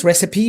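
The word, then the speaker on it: recipe: حاجه قالك ريبي كلمه ريسيبي معناها وصفه اكل وكلمه ريسيبي من الكلمات اللي بتنتهي بفاينال اي بس الاي هنا بتتنطق وانا اعمل لكم فيديو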